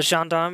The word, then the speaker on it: gendarme: This word entered German as a French loanword, so gendarme is correct, huh?